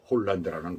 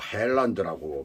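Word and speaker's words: Haaland: 홀란드라는 거 뭐 헬란드라고 발음을 해야 될지 홀란드라고 발음을 해야 될지 할란드라고 발음을 해야 될지 뭐 세 가지 다 좋습니다. 어떤 저는 뭐 쉽게 생각 헐런드라고 이렇게 발음을 하겠습니다.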